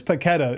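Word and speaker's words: Paquetá: Lucas Paqueta is probably coming from West Okay, Ham.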